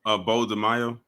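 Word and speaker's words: Beau DeMayo: Bo DeMaio.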